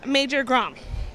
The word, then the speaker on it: Major Grom: So the comic is Major Grom. Am I pronouncing that correctly?